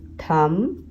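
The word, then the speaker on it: thumb: Okay, next है जो silent digraph में MB, इसमें B साइलेंट होता है। ओके, फॉर एग्जांपल नम, थम, इसमें हम म बस बोलते हैं पर लिखते हैं हम MB।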